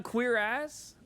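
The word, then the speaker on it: cuirass: Oh, queer ass. Yeah. Is that not how you say it? Pretty sure it's queer ass. Wait, you're hating on queer ass?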